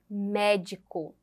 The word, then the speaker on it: médico: no slide a seta a sílaba tônica é a antepenúltima médico médico a seta e a